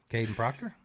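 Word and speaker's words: Kadyn Proctor: No, I would prefer him over Caden Proctor. Wait, did I say his name right? Caden Proctor? Yeah.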